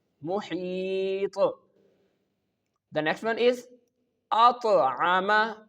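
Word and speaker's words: أطعمهم: The next one is At'ama. At'ama. Here you can see the Ta has sukoon on it. That's why when the Hamza make the connection with the Ta, we perform Qalqalah.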